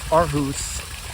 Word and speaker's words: Aarhus: So I came back to Aarhus, which is pronounced Aarhus, Denmark, was where I was based.